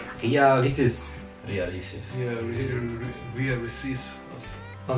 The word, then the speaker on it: Ria Ricis: Okay, for the first, as always, can you try and pronounce her name? Ria Ricis. Ria Ricis. Ria Ricis. Oh, you almost right. Ria Ricis.